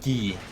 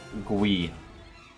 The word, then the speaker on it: Guy: not pronounce this game guy because that's just gonna be so confusing of course it should be pronounced ghee because it is from French if I believe or GUI now I really need